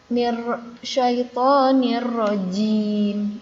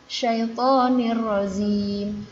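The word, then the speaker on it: الرجيم: Ada yang menyebutkan zim, bukan jim. Seharusnya syaitonir rajim, bukan syaitonir razim.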